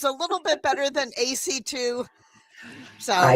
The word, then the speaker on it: Acey: Um but it's pronounced AC.